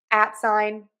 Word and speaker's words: at sign: This is our stress syllable. So loud, long, and high in pitch. And then we're going to add sign. That's going to be less stressed. And that's going to be our reduced syllable.